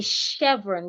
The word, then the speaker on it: chevron: So when we want to pronounce it, we will pronounce the CH here like SH. So instead of saying chef, we would say chef. We would say chevron. The CH will sound like SH.